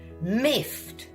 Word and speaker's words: miffed: That word is miffed sounds weird right. It's literally got one syllable Is how you pronounce it.